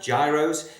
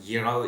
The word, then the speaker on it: gyros: Today we are doing a recipe for a yurro. A great Greek dish. It's about gyros, but it's actually pronounced yuro. It's got silent letters in there.